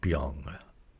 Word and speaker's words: 병: vow bong which um so you don't want to say bong not bong. Uh it's more like bang bang.